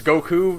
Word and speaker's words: Goku: It's, and he pronounces Goku like you would in Japan, with the emphasis on the U.